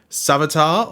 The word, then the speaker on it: Savitar: Zoom from season two savitar or Savita from season three depending on how you say it and of course godspeed